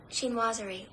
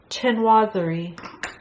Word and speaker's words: chinoiserie: You just say, pronounce this word. Chinoiserie. Chinoiserie. Chinoiserie.